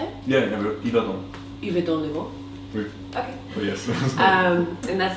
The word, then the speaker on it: Yverdon-les-Bains: Yverdon-les-Bains.